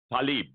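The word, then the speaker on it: Tlaib: Talib.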